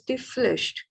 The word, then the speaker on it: Pflicht: the duty, which is die Pflicht. Here P is silent, okay?